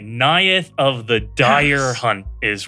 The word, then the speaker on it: Neyith: I if I say wrong okay so it's nayeth of the dire hunt and if I said it wrong it's because Seth told me and I'm sticking to that story you got it right nayeth of the dire hunt is what we're looking